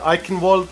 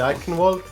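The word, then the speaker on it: Eichenwalde: Watch Gibralar Ivald. I know it's not pronounced it like this in German, but the game pronounces it this way. So, I will say Ivalt.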